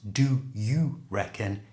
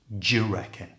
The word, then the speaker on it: do you reckon: eat what you reckon notice here how the do and U are pronounced they come together and form a j sound so it's not do you reckon it's just J reckon try that J reckon and remember it's just